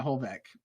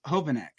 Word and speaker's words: Hovanek: Yeah, Holbeck. All right, let's see. Did I nail it or I just make up her last name? No, it's close. It's Hovanek.